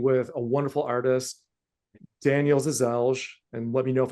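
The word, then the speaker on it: Žeželj: a wonderful artist, Daniel Zazelj, and let me know if I mispronounced that. But It's close. I think the close. L is kind of silent. It's like Zizej, I think is usually, but you know, That's it's up Got for.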